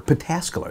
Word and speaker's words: Pataskala: Pataskala is how you say it, just outside of Columbus.